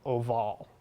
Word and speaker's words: Orval: got oval Abby Al or maybe pronounced a little more correctly oval if you haven't guessed